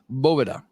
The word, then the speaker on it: Boveda: hell are you doing it is not Boveda it is Bova Caro fente had to